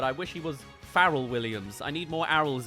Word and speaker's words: Pharrell: about him is that he pronounces his name as farel and my name's and it's not spelled the same but I wish he was Farrell Williams I need more